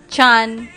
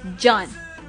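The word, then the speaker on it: Can: May some of you guys calling this hot guy's name Chan, Ken, or whatever. But how to pronounce his name is John.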